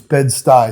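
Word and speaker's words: Bed-Stuy: So it's bed sty.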